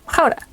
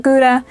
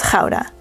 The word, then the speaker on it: Gouda: pronounce Gouda as well Gouda. So for everyone who is not Dutch, or for those that do not have a throat sound in their language, is not Gouda, but Gouda.